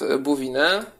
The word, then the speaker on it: Bouvines: 1214 roku zwyciężył pod Bouvines. 1214 rok, zwyciężył z Anglikami. Tutaj oczywiście francuskie słowo, czyli pisze się inaczej, jak się czyta Bouvines.